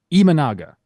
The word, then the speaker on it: Imanaga: more tough names right now we have shoda imanaga I the correct way to pronounce it so we're trying people that's all